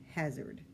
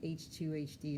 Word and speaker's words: HZRD: This is an HZRD, which is short for the word hazard. I've been calling it H2HD, and I'm like, why am I doing that?